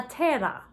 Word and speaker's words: terra: Terra means earth. And again, if you can roll your R's on terra, go ahead and roll your R's.